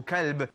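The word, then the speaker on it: كلب: Qalb is the heart. And as for kalb, that is the dog.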